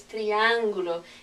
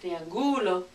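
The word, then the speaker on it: triángulo: word so for example it's triangulo it's not triang or it's not triang it's triangulo okay let me give you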